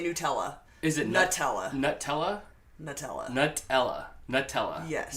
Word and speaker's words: Nutella: Adele says it always makes her laugh when Americans pronounce Nutella when it's Nutella.